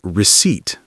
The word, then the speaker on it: receipt: Yes, it looks like receipt, but we say receipt. The P is silent.